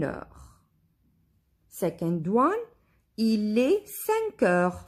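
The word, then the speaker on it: cinq heures: 5 o'clock, il est 5 heures.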